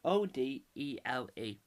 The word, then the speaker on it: Odele: Olisa space, this is how you pronounce his last name, Odele.